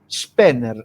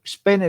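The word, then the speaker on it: Spener: ¿Cómo se pronuncia el nombre de ese protestante? Spenner. Spenner es el apidido s p E n e r. Spenner.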